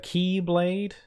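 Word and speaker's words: χ-blade: it being called the key Blade the x-blade is really confusing there is a reason it's kinda clever like the X being pronounced key blade it's kinda clever but it's kind of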